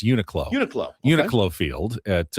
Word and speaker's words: Uniqlo: I was told by my buddy Scott it's pronounced Uniqlo. Oh, not Uniqlo? It's not Uniqlo. It's Uniqlo.